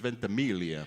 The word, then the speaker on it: Ventimiglia: Congratulations to Milo Ventimiglia, I want to say. I always get confused whether it's Ventimiglia or Ventimiglia, because I think the Italian pronunciation is Ventimiglia.